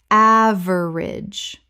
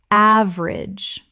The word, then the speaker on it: average: Common mispronunciation. Average. Correct pronunciation. Average.